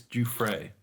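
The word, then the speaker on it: Giuffre: G it's a worse I think it's jupray um said that uh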